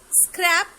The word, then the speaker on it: scrap: Let's look at the words scrap and scrape. Scrap, it pronounced like rap and tap. And in scrape, the rape with tape.